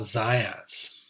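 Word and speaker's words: Zajonc: psychologist by name of Bob Z rhymes with science science z um so Z resolved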